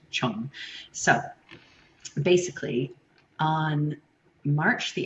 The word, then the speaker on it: Trưng: It looks like Chung, but I am reassured that it's pronounced Chong.